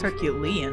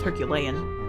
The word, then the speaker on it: herculean: Herculean, huh? I thought it was herculean, but maybe that's the American pronunciation.